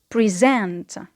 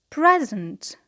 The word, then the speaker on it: present: A present. A present. So here, the stress is not in the second syllable, but it is on the first syllable because it is a noun.